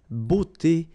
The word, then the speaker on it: beauté: Remember, we've got this combination of E, A, U here, of the vowels, okay? But then it will give you the sound O.